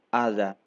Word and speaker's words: hada: Note que a letra H não é pronunciada e temos o encontro do som de 2 As.